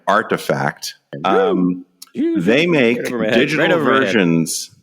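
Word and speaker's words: RTFKT: Studios they bought uh I understand that the kids pronounce that brand artifact um they make digital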